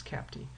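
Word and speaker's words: CAPTE: and physical therapy education which we pronounce is cap d we abbreviate as capti so this accreditation process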